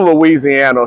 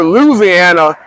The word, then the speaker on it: Louisiana: hear Louisiana from a lot of people from Louisiana so when you hear Louisiana it's the same state some people say Louisiana